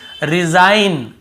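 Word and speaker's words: resign: ठीक है केवल डिजाइन यहां पर भी रिजाइन रिजाइन यहां पर रिजाइन ऐसे नहीं पढ़ रहे ग को नहीं पद रहा है यहां पर भी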